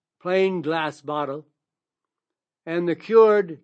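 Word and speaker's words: Kyoord: The best one I recommend to everybody is from a company that's called cured, but it's spelled K like kick. K Y O O R D.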